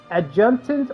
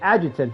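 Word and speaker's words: adjutant: Is it adjunant or agitant? It's agitant, isn't it? The first the way I said it at first didn't sound right.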